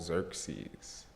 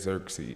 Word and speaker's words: Xerxes: So quote Xerxes. Language is interesting, and I pronounced that wrong. So here is Xerxes.